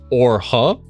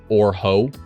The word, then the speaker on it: Orha: This is Orha. Orha, I think is how it was supposed to be pronounced, and I accidentally mispronounced it as Orho, which just sounds not good.